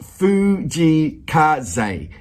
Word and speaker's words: 藤井風: He goes, his name is pronounced Fujii Kaze. So that's it, Fujii Kaze.